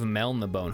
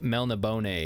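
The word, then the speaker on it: Melniboné: I think it's supposed to be pronounced Melnibone because there's an accent over the E.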